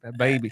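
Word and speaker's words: Bhad Bhabie: Bad Baby. It's hard to pronounce her name because she spells it. The way she spells it is BHAD. BHABIE.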